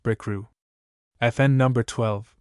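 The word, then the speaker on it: Bricriu: FN number 11, pronounced Brickrew.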